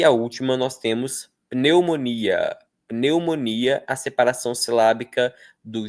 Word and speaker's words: pneumonia: Pense, pense que a gente não pronuncia pneumônia. Pneumônia igual no inglês, tá? No inglês seria algo assim. Eh, se eu não me engano, pneumonia em inglês é pneumonia. Môia para eles tem força no mon.